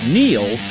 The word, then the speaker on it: Neil: It's no coincidence that Neil rhymes with deal, because that's something you can always count on with the leader in tires and auto repair for nearly a century.